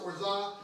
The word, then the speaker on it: orgeat: In the case of the Mai Tai, of orgeat, spelled orgeat, whatever, but it's pronounced orza, and it's an almond syrup.